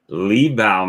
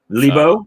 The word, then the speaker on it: Liebau: Libo? The difficulty in saying it, especially in my part of the world, is people want to say it somehow it's French. It's not French. It's Russian. Libo.